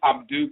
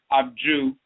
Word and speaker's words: Abdu: We must also understand that the medut for the D sound, which is the open hand, the palm, the D sound, is not only pronounced like the D in day, but also like the DG in judge. The name of the sacred city, Abdu, can also be rendered Abju in Kemet.